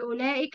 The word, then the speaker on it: أولئك: فيها الألف بعد اللام، الألف في أولئك بعد اللام تنطق ولا تكتب.